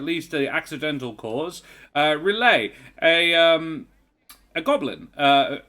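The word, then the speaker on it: Relaeh: as best he knows oh yeah okay so relay um is spelled um the audience is amused um relay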